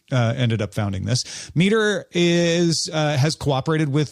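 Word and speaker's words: METR: It's pronounced meter, but it's spelled me and it stands for model evaluation and threat research.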